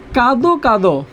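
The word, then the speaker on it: কাঁদো কাঁদো: কাদো কাদো, উচ্চারণ কি হবে?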